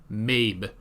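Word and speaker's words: Maebh: It's spelled weird. M-A-E-B-H. So maybe it's like Mabe, not Maeve. Okay.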